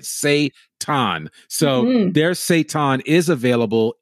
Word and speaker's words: seitan: It's Seitan. It's Seitan. Okay, yes. So pronunciation. We want to say it right. Seitan.